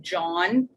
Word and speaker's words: jawn: First of all, if anyone sees the posters and it says a Questlove John, which is how you say the word Jawn, that is a Philly word for like a thing.